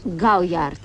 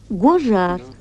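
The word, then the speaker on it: Gaujard: Гауяр. Гожар. Это только по-французски пишется гауяр, а произносится гожар.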